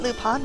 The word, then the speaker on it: Lupin: He's lupine. And the way Marple pronounced it, it's lupin. This is Arsène Lupin.